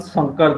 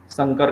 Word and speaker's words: शंकर: महापुरुष श्रीमंत शंकर देव, देखिए अब स का उच्चारण करने में मुझे दिक्कत हुई, तालव्य श बोलने में, तो शंकर का दंत्य स आ गया, शंकर। देखिए अभी सही आया, इसलिए उच्चारण का आपको हमेशा ध्यान रखना है।